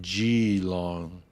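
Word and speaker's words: Geelong: didn't lose you here in NSA gilong it's pronounced G long oh like BG's Okay g long gong I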